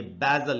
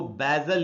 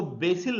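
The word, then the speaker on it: basil: बीस आई ल और इसको हमको पढ़ना चाहिए बैजल इसका मीनिंग होता है तुलसी बैजल और इसका एक और भी उच्चारण वो है बादल तो आप इसको बाइज्जल या बादल दोनों ही पढ़ सकते हैं इसको बेसिल नहीं पढ़ेंगे जैसा की आखिर लोग पढ़ लेते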